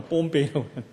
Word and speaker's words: 폼페이: 뽐페이. 발음이 안 돼요. 폼페이. 그 나라 발음을 하려니까 뽐페이라고.